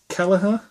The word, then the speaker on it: Kelleher: yeah again this is backhand gang by Pat kellerer that's how you say it um this is